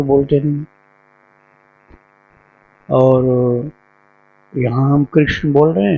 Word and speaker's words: कृष्ण: अब आप देखिए एक जैसे तो बोलते नहीं और यहां हम कृष्ण बोल रहे हैं। तो कृष्ण बोलते हैं। गुजरात में कृष्ण कृष्ण बोलते हैं। और पंजाब में किशन पंजाब में किशन बोलते हैं।